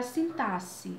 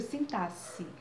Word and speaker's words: sintaxe: Um deles é a morfologia e o outro é a sintaxe. É assim que se pronuncia mesmo, viu? Sintaxe. Não é sintaxe, não.